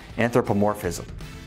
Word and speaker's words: anthropomorphism: Oh, and P.S., it's pronounced anthropomorphism.